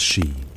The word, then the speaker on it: sí: Within this cosmology, there existed a class of beings known as the Aos Sí, or simply the Aes Sí, pronounced Shee, often anglicized as the fairies.